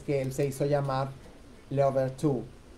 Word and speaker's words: Louverture: la primera vez que él se hizo llamar Leobertú. Leoberture, se escribe Louverture, así se escribe, Louverture.